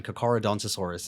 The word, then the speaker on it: Carcharodontosaurus: downstairs these words man kokorodontosaurus is how you say it and it sometimes bothers